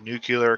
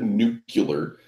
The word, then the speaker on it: nuclear: play all right good how do you say it nuclear isn't that what I said no you said nucular like you're a [